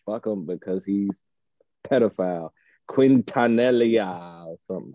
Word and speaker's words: Quintanilla: him because he's pedophile quintanellia some i might actually say that right q-u-i-n-t-a-n-i-l-l-a i spelled that to see if i felt if i said it right quintanilla okay anyway namaste